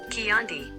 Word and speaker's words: Chianti: How to say Chianti. Chianti. Chianti. Chianti. Chianti. Apparently that's how you say it. I wouldn't have guessed that by reading it.